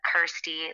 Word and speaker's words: Kirsty: thirsty reminds you know rhymes with my name kirsty like thirsty so i knew i